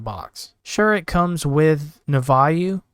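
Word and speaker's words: Nouveau: Sure, it comes with Navayu, I think is how you pronounce it.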